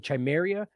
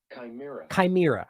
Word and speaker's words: chimera: I realized I've been pronouncing this incorrectly. I think I was saying chimeria. It's funny how you read, and you read these things in your head over the years. Like a lot of I've read books that, there's characters like whatever. And the point is that you end up pronouncing it that way, and you realize it's not actually correct. Here, it's right here. Hold on. Chimera.